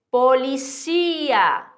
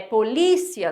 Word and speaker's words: policía: Siguiendo, policía, policía. Ó, o acento. Aqui se chama heterotônico. Por que heterotônico? Porque no português, hétero diferente, tônico é a tonicidade. No português, o som, o tônico é polícia, né?